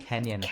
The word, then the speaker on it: Kenyon: She was born in Cleveland and went to Kenyon College, if I'm saying that correctly. Kenyon.